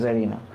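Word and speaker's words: tsarina: টিএস টি silent, S জি উচ্চারণ হবে জারিনা।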